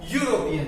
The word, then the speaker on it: European: We before seen that European starts with E, but the pronunciation is what? European.